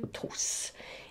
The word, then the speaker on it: trousse: Pour que ce S se prononce S, il faut le doubler, une trousse.